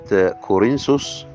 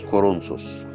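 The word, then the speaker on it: كورنثوس: بكاني ا في رساله كورنسوس الاولى الاصحاح اربعه الايه 11 وبالمناسبه هي اسمها كورنسوس مش كورنثس اا الاصحاح اربعه الايه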